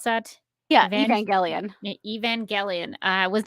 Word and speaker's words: Evangelion: How did you pronounce that? Yeah, Evan- Evangelion.